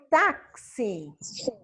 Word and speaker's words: táxi: Quando eu digo táxi, quantos sons Fala. eu pronunciei? 5. Sete. 6. Tô falando 5, por que que é 5? É porque tem o que? Porque tem o tá, que é 2 sons, Tem e o 4. que é C, S e o I.